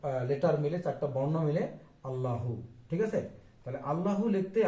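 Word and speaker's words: الله: হামজা লাম জবর আল, লামের উপর একটা খাড়া জবর আছে, আল্লাহ। দুইবার লাম উচ্চারণ হবে, তাই না? একবার আলিফের সঙ্গে আর একবার লামের সঙ্গে।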